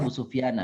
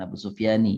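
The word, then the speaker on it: أبا سفيان: Jadi itu bacanya Abu Sufyana bukan Abu Sufyani ya kalau dilengkapin. Ila waladihi Muawiyah wa huwa hulam.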